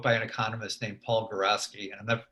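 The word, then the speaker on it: Geroski: an economist named Paul Garaski, and I'm never sure if I'm pronouncing it exactly right, but it's Groski.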